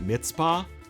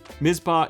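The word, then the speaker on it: Mizpah: list is mispa spring I used to always call it mitzpah I don't know if other people call it mitzpah but it's spelled mispa mispa is self- serve from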